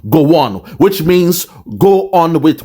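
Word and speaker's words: Gowon: acronym of his name go one is spelled as g w n oh my God his name is Goan and during the time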